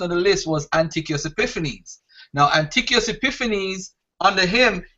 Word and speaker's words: Epiphanes: Epiphanes is Epiphanes.